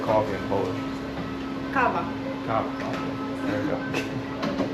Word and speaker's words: kawa: Kawa.